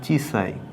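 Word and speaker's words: 小さい: ছোটর কাঞ্জি তো ছোট আমরা জানি যে এর উচ্চারণটা হচ্ছে চিসাই এই এইটা হচ্ছে ছোট বা স্মলের কাঞ্জি তো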